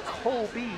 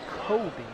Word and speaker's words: Colby: the first one and that is colby c-o-l-b-y not kobe sealed but bryant is spelled the same colby for the second